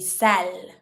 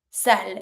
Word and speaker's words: sale: Something that is dirty, you're going to say sale. Sale. I don't say sale, the E is mute.